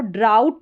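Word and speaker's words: drought: फिर यहां पर देखें डी आर को जब डी आर कॉम्बिनेशन साथ में आता है तो इसको ड्र करके पढ़ा जाता है और ये पूरी स्पेलिंग का प्रोनाउंसिएशन यहां पर दे रखा है। इसको ड्राउट करके प्रोनाउंस करेंगे और ओ यू जी एच आउ इसका उच्चारण है।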